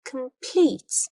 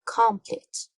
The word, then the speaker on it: complete: Or another example, we say complete because the second syllable is stressed. We don't say complete.